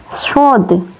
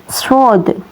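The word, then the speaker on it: صاد: shin kecil syin besar ini sadod. Cara melafalkannya seperti bersiul. Sod.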